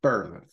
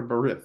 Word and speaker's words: Berith: on into this to I've always pronounced it birth or birth is uh birth or bereth is how I've always heard it pronounced um I'll be honest with you I think I pronounce it birth most of the time but I do like when I'm thinking about it I try to get the eye in there that breath um it doesn't sound